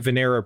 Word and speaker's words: Venera: So you mentioned, I don't even know how to pronounce it. Is it the Venera probes? Yeah, the Soviet Venera probes.